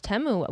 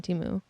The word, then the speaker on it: Temu: one commercial is temu or teu well it's temu we've all pronounced it wrong I said U it's temu that's how they said on the commercial like te temu temu yeah they were not saying timu so temu has all their products on their